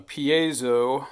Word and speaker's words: piezo: they normally use uh pazo some people pronounce it that way piso discs I say piso whatever uh these are